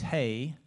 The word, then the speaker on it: hei: Finland and uh so the Finnish word for hello I mean it sounds kind of slangy but it's hey you know so everybody can pronounce hey you say it hey okay I think and